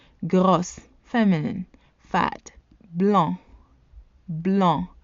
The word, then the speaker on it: blanc: Blanc. Blanc. The C is silent in the masculine form.